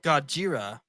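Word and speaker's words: Gojira: you say it Godzilla or in Japan they're called godjira in Japan have you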